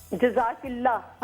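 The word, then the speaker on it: جزاكِ الله: तो बाद मैं में थोड़ा आप सा गलत प्रोनाउंसिएशन है। जी, जज़ाकिल्लाह कहना चाहिए। क्या ना? क्या फिर से बोले? जज़ाकिल्लाह।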